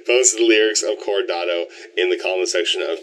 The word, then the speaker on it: Coronado: And it's weird for this one because, like, you know, with Tomorrow as well as for Coronado. No, that's not how you pronounce it. Coronado. Yeah, that's it.